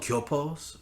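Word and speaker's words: 교포: So met some we're called gyopos, or basically gyopos.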